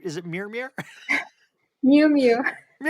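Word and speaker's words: Miu Miu: Today, she runs an international luxury brand that supplies global fashion houses like Prada and Mirmir. Is it is that did I pronounce that right? Is it Mirmir? Miumu.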